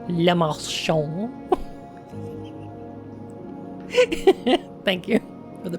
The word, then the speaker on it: Le Marchand: We will know Lemachant's mind. Oh. Oh boy. This isn't AI. Le Marchand. Le Marchand.